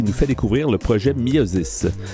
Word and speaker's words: Myosis: Tu es créatrice de Miosis, c'est comme ça qu'on prononce, ou Miosis? Miosis, Miosis, ouais.